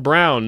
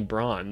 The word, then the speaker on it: Braun: pronounce his own name it's definitely Braun they're just what's wrong with his family why do they think that his name is brown it's just not correct it just isn't right but anyway let's